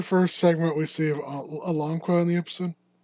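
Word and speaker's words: Alanqa: talk about the bones of a terasaur named Aigua I want to say is how you say it no it's a alongqua along so Alangqua is a fragmentaryary terasaur uh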